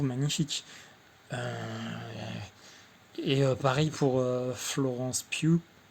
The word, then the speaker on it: Florence Pugh: Euh, et pareil pour Florence Pugh. Alors, on dit bien Florence Pugh. Je me suis renseigné, malgré que ça s'écrit P-U-G-H, donc Florence Pugh, qui était l'actrice principale